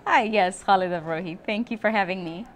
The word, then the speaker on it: Khalida Brohi: Hi, yes, Khalida Bohi.